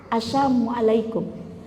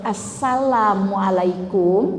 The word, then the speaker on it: assalamualaikum: Assalamualaikum. Kalau assalamualaikum pakai sin, itu artinya semoga keselamatan atas kalian. Tapi kalau pakai sya, assalamualaikum, semoga kematian untuk kalian.